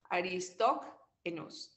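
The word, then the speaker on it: Aristoxenus: That's the way it is pronounced, Aristoenus.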